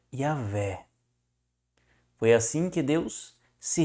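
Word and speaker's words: Javé: de Jerusalém vai trazer a palavra Yahé, né? Ouahé. Yahé. Mas o correto é Yahvé.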